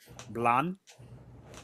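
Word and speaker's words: Blahn: you and he'll say his name is Blah. Blonde. B L A H N.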